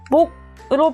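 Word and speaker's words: 몫: 발음하지 않죠 갑으로 발음됩니다 목도 못 아니고 목으로 발음되죠 이처럼 받침 자리에서 두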